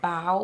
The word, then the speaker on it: bough: Now, when they say bow, what do they mean by bow? I'm thinking like bodily fluids. Well, it's actually, and I'm not pronouncing it clearly enough, B-O-U-G-H, bowel without an L.